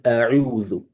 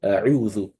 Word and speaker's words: أعوذ: But imagine you want to pronounce this, but instead of giving this one a dhamma, you give it a fatha. You give it a fatha. In that regard, you've changed the meaning of that word, right?